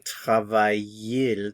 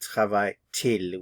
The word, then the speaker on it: travaille-t-il: So instead of saying travaille-il, travaille-il, we say travaille-t-il. We pronounce the T, travaille-t-il.